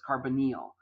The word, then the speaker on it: carbonyl: I know it looks like hormonal but its carbonyl that's just how it's pronounced carbonyl compounds have a co group that